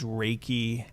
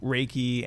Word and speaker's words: Reiki: What I do is, I guess the core, I would say, is Reiki energy healing. So Reiki and intuitive healing.